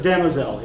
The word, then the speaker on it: Damozel: Did you pronounce that right, Damsel? Yeah, Damozel.